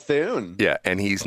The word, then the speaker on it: Thune: Oh, because it rhymes with Thune.